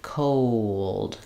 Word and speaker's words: cold: when you're saying cold so if I said it very slowly cold o so that I to get that the O and L combination there's really the O dip Fong the W Glide connecting them and the uh sound so I don't want